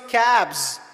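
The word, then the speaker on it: cabs: एज स कैप्स एंड इफ यू ड एस टू सीए बी कैब it become कैब्स ज sound comes why school going and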